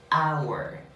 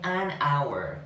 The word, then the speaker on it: hour: Por ejemplo, la palabra hour comienza con H, pero es una H muda. Por lo tanto, tiene un sonido vocálico en sí esta palabra, hour. Y ahí diré an hour, una hora.